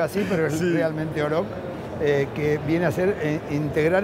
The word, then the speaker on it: Oroch: La Oroch, que van a decir Oroch, como sí, digo yo, porque sí, se escribe así, pero es sí, realmente Oroch.